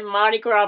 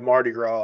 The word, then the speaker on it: Mardi Gras: We're doing the Mardi Gras Mambo in Baton Rouge, and there's like, I think, a 75% chance of rain that morning.